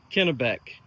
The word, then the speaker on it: Kennebec: Kennebec? Kennebec. Kennebec, okay. See, I'm glad that we have you pronouncing these names, because I would say something